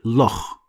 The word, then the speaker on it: loch: too, like the word loch. Probably you've heard of Loch Ness. So this is actually a Scottish sound, loch.